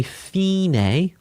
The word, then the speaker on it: fine: We're going to say it differently in music again because it's Italian. We're going to say fine.